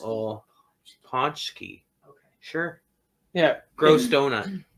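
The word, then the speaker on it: pączki: Ponchski. Oh, Ponchki. Okay. Sure. Yeah, Gross donut. it's pronounced terrible.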